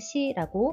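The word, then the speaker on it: し: 그리고 시의 마무리를 너무 올려서 알파벳 유처럼 쓰는 학생도 있는데요. 마무리는 살짝만 올려 주세요. 실을 발음할 때는 우리나라의 시를 발음할 때보다 입술 모양을 조금 더 옆으로 길게 발음하는 것이 좋겠습니다.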